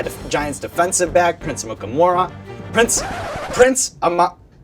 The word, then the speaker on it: Amukamara: And it's funny because if you actually read it, you say it how it's spelled.